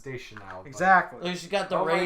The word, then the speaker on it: Deschanel: There she is, Zoe Deutschinoi. Does look like a Katy Is that how you Perry. pronounce her name? No, it's Deschanel.